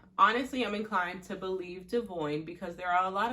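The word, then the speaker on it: Devoin: If you didn't know, that's how you say his name, Devoyne, Brianna's baby daddy.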